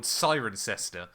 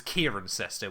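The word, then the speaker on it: Cirencester: There's a town near me chat called Sirencester um that Jamie 183 thought was Kieranester which was hilariously painful.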